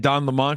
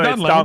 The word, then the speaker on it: Lemon: Yeah, it's Don Lemon. Yeah, yeah, it's pronounced Lemon, dude.